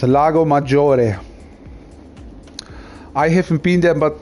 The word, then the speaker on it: Lago Maggiore: That's the correct way to pronounce it, guys. Lago Maggiore.